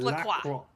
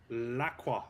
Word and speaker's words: La Croix: It is La Croix. La Croix.